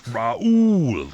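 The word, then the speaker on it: Raúl: that the guy and you must say it the right way and you had great pronunciation on that it's raul raul castro that's one of the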